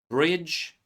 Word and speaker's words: bridge: Silent D appears in DG clusters. Bridge, ridge, edge, ledge, hedge. As you can see, we pronounce J sound, but there is no D at all.